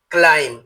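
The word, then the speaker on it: climb: সি এল আই এমবি এর উচ্চারণ ক্লাইম হবে না এর উচ্চারণ হবে ক্লাইম যার অর্থ ওঠা ডি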